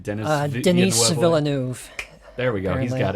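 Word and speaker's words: Villeneuve: yeah yeah the d i i'm never gonna pronounce this guy's name right dennis uh denise villanuev there we go he's got it yeah andrew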